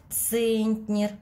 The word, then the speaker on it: центнер: в этих словах ударение центнер ударение падает на букву е должны запомнить вторую букву